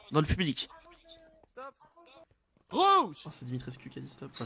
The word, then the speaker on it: Dimitrescu: Comment prononcer On son, lance son nom de famille à Vlad? Dimi. Dimitrescu.